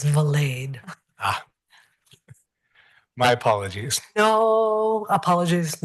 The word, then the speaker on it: Valade: to correct something though my last name is pronounced valade ah my apologies no